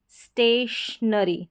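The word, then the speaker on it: stationery: फिर यहाँ पर है स्टेशनरी, स्टेशनरी, जैसे बीच में ये TION आता है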